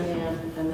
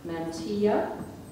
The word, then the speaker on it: mantilla: K behind me okay your word has two pronunciations I'm going to give you both of them Mantia or Mana can you please repeat the word mtia Mana what was the alternate pronunciation mantilla Lang origin it's Spanish